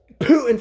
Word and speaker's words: Putin: Trump who is very Pro Putin right now Putin for those of you that want me to